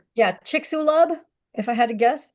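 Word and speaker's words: Chicxulub: you see why it's difficult for me to pronounce something I've never seen before yeah me either yeah chicksulub if I had to guess okay the chicksub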